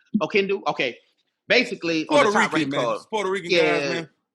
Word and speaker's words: Oquendo: That's how you pronounce it. Oquendo.